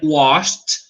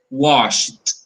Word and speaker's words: washed: And washed, like wash, you see? Sh sound, you pronounce the ED like T, a very weak T. So washed, okay?